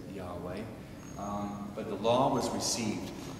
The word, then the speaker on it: Yahweh: Some of our non-Catholic Christian friends pronounce it as Jehovah. The more accurate, the more Hebrew accurate way is to say Yahweh.